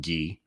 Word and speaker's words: Guy: beginning for a defendant guy or sometimes people pronounce it ghee but guy ref it uh the